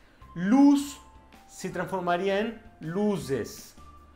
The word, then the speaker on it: luz: A pronúncia não é bem com Z. Em espanhol não tem o som de z, não tem esse som de mosquito vibrando aí. O som é sempre de SS, como se fosse, ou